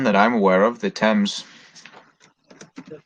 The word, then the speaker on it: Thames: Only one that I'm aware of, the Thames. The Thames.